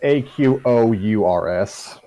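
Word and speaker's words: Aqours: The R and S are silent.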